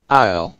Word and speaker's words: aisle: viscount, aisle, aisle, slash, ডট, দুইটারই pronounce হচ্ছে আইএল। হ্যাঁ, আমরা কি বলি আইসেল অথবা আইসেল না, দুইটাই হচ্ছে আইএল।